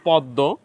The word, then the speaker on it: পদ্ম: দীপ্ত হয়েছে ছদ্দ এখানে শব্দের শেষে দ এর সাথে ম ফলা সংযুক্ত হয়েছে উচ্চারণ রীতিতে হয়েছে পদ্ম এখানে রশ্মি আমরা পড়ি